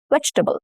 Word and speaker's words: vegetable: When we pronounce the word vegetable, the vowels in the second and the third syllables are reduced to the sound which is a very weak sound. This is why we say it as vegetable.